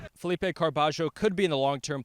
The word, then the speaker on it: Carballo: I believe it is Carbajio.